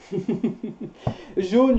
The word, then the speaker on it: jaune: Jaune, jeune, juin. Jaune. Is yellow, jo, o, with a sound o, jaune.